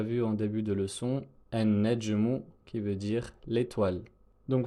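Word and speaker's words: النجم: Et enfin, la dernière lettre solaire, le noun, avec l'exemple qu'on a déjà vu en début de leçon, an-najmu, qui veut dire l'étoile.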